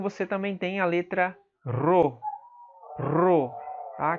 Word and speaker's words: rho: Que equivaleria ao nosso R em português, tá? Como em run em inglês. Apesar do maiúsculo parecer com o nosso P, tá? Mas não se engane, isso tem som de R, tá?